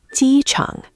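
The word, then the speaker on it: 机场: First syllable, Ji, is tone one, high and flat, like holding a note in a song. Second, Chang, is tone three, the dip.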